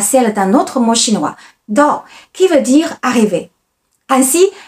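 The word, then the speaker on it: 到: À l'envers se dit Dao en chinois et sa prononciation ressemble à celle d'un autre mot chinois, Dao, qui veut dire arriver.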